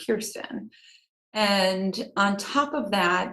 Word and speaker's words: Kirstyn: friends is kristen and she wanted to name me kristen and my dad said there's enough christians in the world let's name her kirsten and on top of